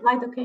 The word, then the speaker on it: lidocaine: And am I pronouncing it right? Yeah, Uh, lidocaine, yeah.